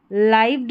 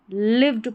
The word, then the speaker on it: lived: इसको लाइव्ड नहीं पढ़ना है, लिव्ड पढ़ेंगे।